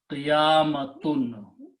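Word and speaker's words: قيامة: Okay, if you want to make a feminine word of that thing, we add a ta marbuta at the end. Okay. and the pronunciation become qiyamatun.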